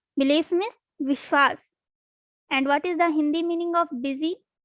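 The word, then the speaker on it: विश्वास: Vishwas. This is also easy. You can easily pronounce.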